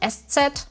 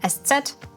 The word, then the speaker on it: ß: spicy s number one you pronounce it just like an s number two you never